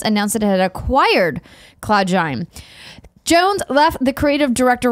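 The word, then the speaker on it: Cloudgine: I think it's like engine, so CloudGen.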